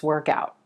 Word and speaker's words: work out: was an intense workout now if we put a space between these words and stress the word out we get work out work out is a phrasal verb that refers to the actual act the action of exercising i haven't worked out